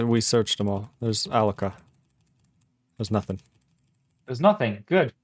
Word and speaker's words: alloca: Alloc-A is how you say it.